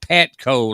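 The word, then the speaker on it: Patkau: that p-a-t-k-a-u that's correct it's pronounced petco like it's spelled p-a-t-c-o but it's actually p-a-t-k-a-u it's like p-a-t-k-o but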